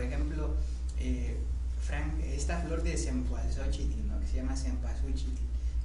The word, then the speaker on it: cempasúchil: Cempasúchil. Cempasúchil. ¿Qué más? Cempasúchil. Cempasúchil, con L. Cempasúchil.